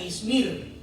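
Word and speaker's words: İzmir: ciudad en el tiempo moderno se conoce como izmir algunos le pronuncian izmir en anatolia Turquía y es la única ciudad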